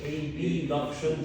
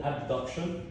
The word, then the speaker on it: abduction: which option abduction abduction I'm gonna pronounce it a b induction just for you to under or to be able to grab or to listen to the difference okay so it's called abduction but I'm gonna say